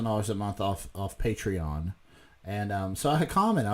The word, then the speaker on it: Patreon: like his participate Rhian patreon his patreon page which he pronounces portray on hawk you face bastard portray on really its patreon with patreon thank ya I've heard other